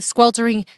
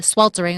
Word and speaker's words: sweltering: This amazing tree hooks us up on a daily basis because it blocks the squeltering sun. Sweltering. I always mispronounced that word, the sweltering.